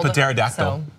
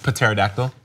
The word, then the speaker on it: pterodactyl: Also pterodactyl. The what? Pterodactyl. I pronounced the P.